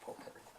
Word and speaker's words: potpourri: This is called potpourri, Oh, I like potpourri. which is spelled pot, potpourri, but it's pronounced potpourri.